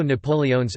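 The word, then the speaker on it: napoleones: quarter there is also napoleons again with all the vowels pronounced a milfoy pastry stuffed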